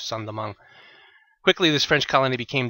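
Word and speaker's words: Saint-Domingue: island which had been Santo Domingo um sandong so the same St Dominic but uh just pronounced in French sandong quickly this French Colony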